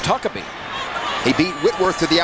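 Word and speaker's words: Huckeba: H-U-C-K-E-B-A, but it's pronounced Huckabee.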